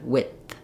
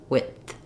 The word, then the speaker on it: width: air for the D so you can hear that it the the I sound is fairly short and then it releases into the th sound so we have with and width width and then when we